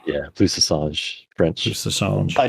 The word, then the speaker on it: plus ça change: I was gonna say, as a minor thing, it's pronounced plus ça change. Yeah, plus ça change, French.